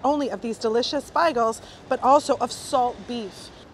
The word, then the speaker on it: beigel: is a salt beef beigel. I wasn't trying to say bagel, I was trying to say beigel. Beigel is the traditional Yiddish pronunciation for bagel, or bagel, I've heard some people say.